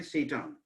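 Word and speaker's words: Tsetan: टी is capital, T is capital तो रहेगा ही, टी नाम से है इसलिए, लेकिन बट इट इज साइलेंट। हम टी इसको नहीं पढ़ेंगे, हम यही प्रोनाउंसिएशन करेंगे, शैतान, ठीक है ना।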